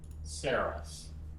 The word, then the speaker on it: Saros: That is not like But apparently it's like a you know, it's a term in astronomy. Ceres. Ceres. I will not be pronouncing it this way. I don't I don't think like rhymes with hair loss.